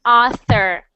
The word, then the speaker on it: author: swims it's very cute you don't want to say that he was friends with an otter because everyone think will think he's crazy so he must sound like author okay next one next